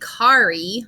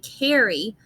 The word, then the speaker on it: carry: And also in foundations, I have learned that when I see AR, it says R. But when we say this word, we don't say carry, we say carry. So this AR sound changes a little bit with this tricky word.